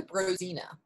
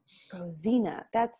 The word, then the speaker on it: Brozina: It's actually Brozina. Brozina. That's yeah, the way to pronounce it. It's a Slovak name, actually.